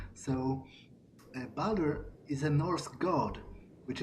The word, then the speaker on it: Baldur: because in Polish pronunciation, in accordance with a Polish pronunciation, you would just say Baldur, as it's written. But I think it's English. In English, it would be Baldur. So Baldur is a Norse god,